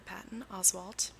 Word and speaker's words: Patton Oswalt: Unfortunately, McNamara died from an accidental overdose in 2016 before her book was finished, but her author, actor Patton Oswalt, that's his name, saying it correctly now, oversaw its completion, and it became a bestseller when it was published in February of 2018.